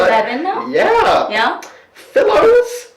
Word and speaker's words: Fillows: Fillows rhymes with pillow, which I can see.